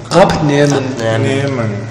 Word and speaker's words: Abnehmen: Non é Niemen, é un Niemen pechado. Como? Abnehmen.